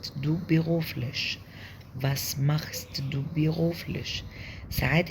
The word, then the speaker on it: beruflich: بس هو الشائع was machen sie beruflich.